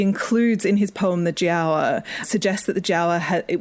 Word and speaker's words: Giaour: His story is called The Giaour, which is a great pronunciation. I think it's from Ottoman Turkish, is it?